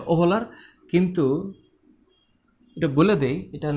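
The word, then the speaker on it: Wöhler: আর বিজ্ঞানীর নাম হচ্ছে বার্জে না, এটা হচ্ছে ফ্রেডরিক ভোলার। আসলে উচ্চারণ হচ্ছে ওহলার, কিন্তু এটা বলে দেই,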